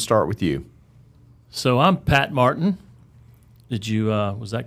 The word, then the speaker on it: Pat Martin: So I'm Pat Martin. Was that correct? That was correct. Unless I mispronounced it, then you're way off.